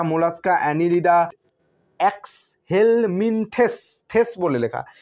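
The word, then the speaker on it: Mollusca: মোলাস্কা, 8 নম্বরে, মোলাস্কা, MOLLUS, মোলাস, CA, মোলাস্কা।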